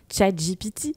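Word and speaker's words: ChatGPT: avec chat GPT enfin chat GPT comme dirait ma maman qui m'a suggéré de le prononcer à l'anglaise parce que c'était quand même plus jolie qu'à la française d'ailleurs si tu as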